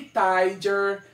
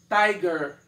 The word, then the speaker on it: tiger: Não é nem tiger, nem tiger. É tiger.